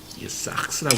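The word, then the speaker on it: σάρξ: 성경은 싹스라고 읽어요. 싹스.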